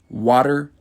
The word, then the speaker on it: water: First is the word and then second is the American pronunciation with the more of a d sound and last is the British pronunciation with more of a t sound.